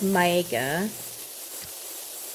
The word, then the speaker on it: Maeka: So my name is Maeka. I know most people do 2 syllables, but there's actually 3 syllables in my name.